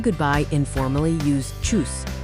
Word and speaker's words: Tschüss: When saying goodbye informally, use Tschüss, pronounced like choose.